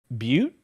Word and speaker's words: Butte: Is it Butte? Yes. Okay. And okay. this is one time I am very, very grateful you pronounced it properly.